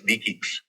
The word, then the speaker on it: DE-CIX: It is pronounced with a K. So it's DEIS.